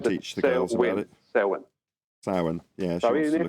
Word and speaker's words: Samhain: Samhain. Samhain. Okay, just think of Sow, S-O-W-W-I-N. She wants to know so she can teach the girls about it. Samhain.